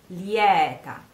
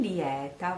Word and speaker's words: lieta: So, lieta or lieta, you can find both.